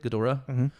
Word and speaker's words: Ghidorah: whole gadora right that's how you say it gadora the whole ghidorah skull transfer thing like what